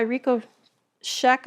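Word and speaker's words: Richo Cech: making plant medicine by Rico Scheck I think is how you say his name you can go to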